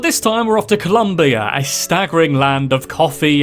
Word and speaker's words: Colombia: Like it's spelling though, it's pronounced Colombia not Columbia.